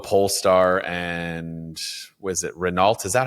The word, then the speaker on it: Renault: Renault. Is that how you say it? Or am I going to get made fun of for not saying it correctly? It's Renault.